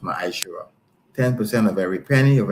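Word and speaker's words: ma'aser: It means tent in the Hebrew and is pronounced maisher.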